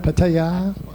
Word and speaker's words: Pattaya: Do you want to do what is the correct pronunciation of Pattaya? Pattaya?